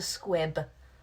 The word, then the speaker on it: squib: magic is called a squib I should know because it rhymes with and that's my name